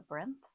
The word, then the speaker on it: Brynth: And one channel I really liked for that was The Brinth, it's spelled Brynth, and I really liked her content.